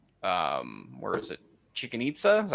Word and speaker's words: Chichen Itza: Chichen Itza? Is that how you pronounce it? The place Chichen where they have the Itza. Mayan ruin? No. Chichen Itza, thank you.